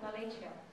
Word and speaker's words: Appalachia: Appalachia, is that pronounced it right? Appalachia.